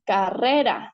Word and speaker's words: carrera: Carrera, ¿no es cierto? Luna, viento. Aquí nosotros podemos identificar que la sílaba tónica es re, ¿sí?